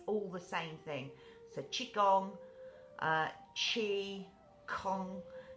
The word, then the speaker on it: qigong: also be be spelled it's certainly spelt with a g which is how you pronounce it or spell it with